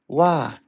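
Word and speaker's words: は: Wah. Oh ya, jadi kalau minasang ada yang menanyakan, Sensei, ini kan sebenarnya huruf H. Kenapa huruf H ini dibaca wa?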